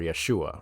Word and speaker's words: Yeshua: Jesus being his name, or Yeshua, right, as it was probably originally pronounced 2,000 years ago.